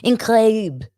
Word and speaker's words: incroyable: Incroyable.